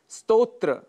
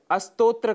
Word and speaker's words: स्तोत्र: स्तोत्र। स्तोत्र के स्थान पर अस्तोत्र का हम उच्चारण कर जाते हैं, जो कि दोष माना गया है।